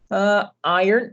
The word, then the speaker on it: iron: Iron, gente, iron, né? Você fala iron, não tem o nessa pronúncia.